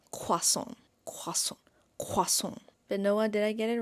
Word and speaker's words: croissant: So, in English we say croissants. Do you want a croissant? Croissant. and French. I am no one to teach you French honestly, but I feel like I have this pronun pronunciation. Okay, like I think I got this pronunciation. So, let me teach you. It's quason.